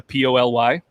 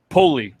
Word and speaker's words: Poly: currently love and i i think i say it wrong so i'm going to spell it it's the p-o-l-y pulley i would have said poly so pulley pulley i absolutely